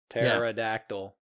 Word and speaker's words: pterodactyl: you spell pterodactyl yeah it starts the p silent p p that spell it uh p t e r and then a dactyl pterodactyl yeah i could spell